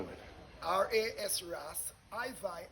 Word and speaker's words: IVi: R-A-S Ras, IVi as in Levi. You know, Levi, the ancient priest. So I-V-I. I-V-I. And if you put an E, you might get the pronunciation clearer, because someone would say Ivy if they say I-V-I. So I-E-V-I. No, it's I-V-I, and you can put an E in the bracket, so the person will know it's I-Vi, not I-V.